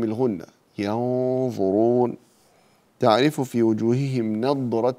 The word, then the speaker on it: نضرة: على الأرائك ينظرون، ينظرون هنا فخم الغنة، ينظرون، تعرف في وجوههم نضرة النعيم وليس ندرة النعيم، ند ند لا نض نض، ففرق بين الدال والضاد.